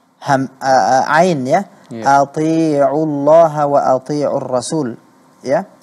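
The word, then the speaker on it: أطيعوا: Ya, ati'u Allah wa ati'u Rasul. Ya, kata ati'u di sana kedengarannya huruf ain kurang jelas, sehingga lebih dekat kepada hamzah. Yeah.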